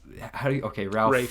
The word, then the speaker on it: Ralph: She thinks it's Ralph, but it's not. I just say it like I see it, I guess. But yeah, Rafe Fiennes.